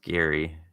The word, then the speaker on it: Gerry: name was Gary yeah it's spelled ger ry but it's pronounced Gary but they ended up making it into Jerry and hey Bob do